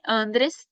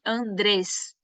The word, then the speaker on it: Andrés: a essa Sina lá não é Andreas é Andreas Andreas tá continua com e mas é a sílaba tônica é a sílaba com ênfases a André a gente